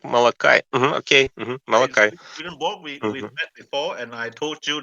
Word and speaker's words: Malachi: children of Levi I think in English it's pronounced Malachi Malachi Malaki malakians I think yeah I heard like Molokai okay Malachi before and I told you that you shouldn't